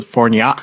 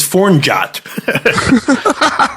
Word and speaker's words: Fornjot: album for fornjot thinking usually the J is like a a y so forat perhaps leave the pronunciation to me this is fornot okay then this it